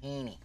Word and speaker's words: Heaney: Side note, my last name rhymes with weenie, so it's Heaney.